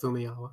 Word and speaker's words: Famuyiwa: Please pronounce it. Fumiyawa.